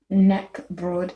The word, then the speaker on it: knäckebröd: Okay, then there's naka broad, which is spelled KNACKE BROD. And it looks like this. It looks more like a snack. It's a crisp bread known as knäckebröd in Swedish.